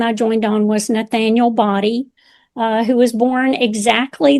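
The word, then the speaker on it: Boddie: And we and we say Body. I have other members in the family that call it Body. But we pronounce it Body.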